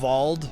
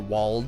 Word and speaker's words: Wald: I always thought it was weird that they had Wald, or Wald, or whatever you want to pronounce it. It's supposed to be pronounced with a German pronunciation.